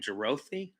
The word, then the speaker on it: Jerothe: about Foxy and so um how do you pronounce the last name? Gerroi or Yeah. Gerro. Jerro.